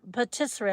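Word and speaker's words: pâtisserie: How do you say it? Pissery. petisser petissery. It rhymes with rotisserie.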